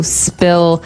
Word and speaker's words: spill: So, spill. I spilled some milk. Okay. Spilled. Now, it's pronounced differently from spell, right?